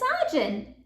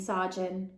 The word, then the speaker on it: Saajin: does actually Mrs Wilson my name is sajun it means loving friend in Punjabi explained Saun oh dear Saun I'm am so sorry I